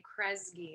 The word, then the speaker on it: Kresge: and arts organizations he was also named 2020 kresge artist fellow i hope i pronounced that correctly um so without further ado